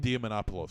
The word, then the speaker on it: Diamantopoulos: Diamantopoulos.